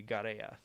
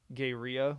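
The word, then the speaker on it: Gaerea: but he's like the the spanish pronunciation would be garea and that sounds cooler to me than gayria which i think i was saying or gorilla gorilla garea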